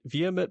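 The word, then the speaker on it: VHEMT: Taking from their website, Vehement provides a series of questions and answers that helps explain their philosophy. Question: what is the voluntary human extinction movement? Vehement, pronounced vehement, is a movement, not an organization.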